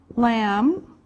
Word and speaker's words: lamb: here we can put meat like beef beef lamb lamb remember this is silent the bee is silent pork pork chicken